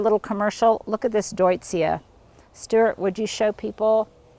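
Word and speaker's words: Deutzia: intermission here a little commercial look at this deutsia Stuart would you show people that is just gorgeous blooming in white and that's spelled d-e-u-t-z-i-a you guys I got this years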